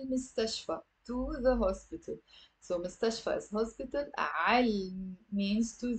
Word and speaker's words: مستشفى: It's three syllables. Most of my students have a difficulty pronouncing this word. Say it with me. مستشفى, مستشفى.